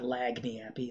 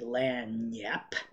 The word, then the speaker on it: Lagniappe: All right, this is also this is Light in the Attic collaborating with the Aquarium Drunkard blog, the Lagniappe sessions. That's how you pronounce that, not Lagniappe, Lagniappe.